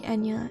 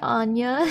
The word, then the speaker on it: Enya: to play like mmrpgs my name would be enya and i would listen to their streams and be like oh hi anya like really is that